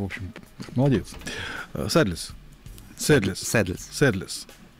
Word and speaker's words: Sadless: Правильно произносится Sadless с английским произношением. Sadless это.